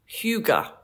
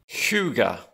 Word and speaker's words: hygge: And I've recently learned it's pronounced hygge. Hygge. Hygge. Hygge. Doesn't look like hygge to me, but that is how it is pronounced.